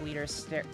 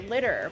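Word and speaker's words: Liter: I've done any of Leader's story stuff. Or sorry, not Leader, Litter, because it's spelled like Leader, but they all say Litter for some reason.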